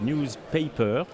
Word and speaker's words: NewsPayPer: une société qui s'appelle newspaper on doit dire paper parce que ça s'écrit bien news pays y per une société parisienne ouais